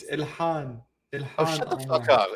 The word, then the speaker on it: Ilhan: It's Ilhan.